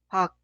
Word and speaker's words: 박: Pronunciar 기억 como consonante final. Al final de pronunciar, detener el flujo de aire. Por eso es casi inaudible. Esta sílaba se pronuncia 박, 박, 박. Suena como el 1, 박, pero no se pronuncia como el 2, 박. Debe detener el flujo de aire. 박.